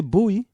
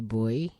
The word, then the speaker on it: buoy: We don't say buoy. I've never heard anybody say boy. Never say boy? I just heard. I thought it was pronounced as a boy. No, we say buoy. Oh, well, you're saying it wrong then. But we normally use the American version and say boy. We call B-O-Y and B-U-O-Y.